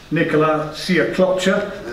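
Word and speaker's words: Nikola Sjekloća: Anthony Yard against, let me get the name right, Nicola Siaklopcha. That is the correct pronunciation if anybody's wondering.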